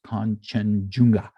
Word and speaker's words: Kanchenjunga: It's not chimichanga, it's Kanchenjunga.